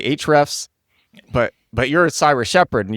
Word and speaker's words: Ahrefs: I mostly use Ahrefs on a day-to-day basis.